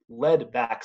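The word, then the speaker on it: lead-back: red back and are commonly called lead back salamanders just because it rhymes with red back and these guys they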